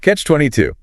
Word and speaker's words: Catch-22: Stress on the two at the end. Catch-22.